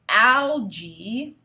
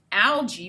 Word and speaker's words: algae: which is in parentheses so we can see it's al g j e e is how it's pronounced you make sure yeah okay so now we can read it easily algae algae may grow thickly in